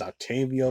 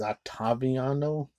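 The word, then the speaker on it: Ottaviano: he's an Italian actor it kind of sounds like his name is name is Octavio but it's octaviano it's like an Italian name but it sounds like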